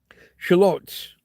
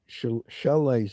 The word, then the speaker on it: shallots: They have a name. Shallots. Shallots. Or shallots. Or chalets, I've heard somebody call them. That's not right.